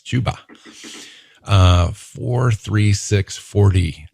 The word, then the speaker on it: Chuba: know i have to it looks like chubba but it's chuba uh four three six